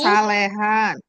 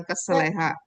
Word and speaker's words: kesalehan: Melatih diri dalam kesalehan, disiplin rohani, Kesalehan. Kesalehan bukan keseleha.